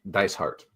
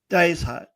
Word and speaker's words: Dysart: say your last name like a paradise heart dice heart dice heart nice nice so so